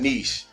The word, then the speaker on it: niche: content so let's define niche spelled n-i-c-h-e pronounced niche like you know your knee okay so simply put